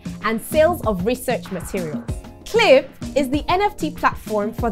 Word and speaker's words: QLIP: oh culib no no no no it's pronounced cliff and not qlive cliff cliff is africa's number